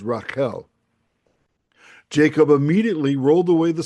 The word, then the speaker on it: Rachel: Of course, the Hebrew pronunciation of Rachel is Raquel.